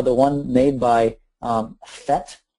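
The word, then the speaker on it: PhET: one made by um fet and fet is spelled p h t maybe eron can put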